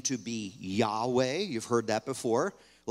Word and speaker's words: Yahweh: the idea of Jehovah Jehovah is a mispronunciation of Yahweh don't stop calling him